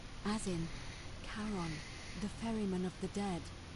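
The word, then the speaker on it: Charon: it's just as you described it only your pronunciation is it was c h a r o n as in karon the Fairman of the Dead Kon who in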